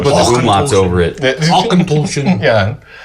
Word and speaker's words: Auchentoshan: It even gives the pronunciation guide on the back. Oh, look at there. Auchentoshan. But the Ach is misleading because it's all. Yeah, they should put the umlauts over it. Auchentoshan.